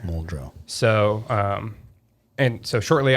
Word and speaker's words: Muldrow: do you spell that m-u-l-d-r-o-w muldra okay glacier mole drill so um and so